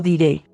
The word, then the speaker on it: diré: Yo se lo diré. Yo te lo diré. Yo se lo diré. My brain doesn't want me to pronounce that R as a D, but that's what I hear.